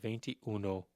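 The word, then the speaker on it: veintiuno: So you have venty uno vents ventro vent.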